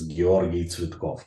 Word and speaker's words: Georgi Tsvetkov: His real name is Georgi Tsvetkov. That's how you pronounce it in Russian or Bulgarian.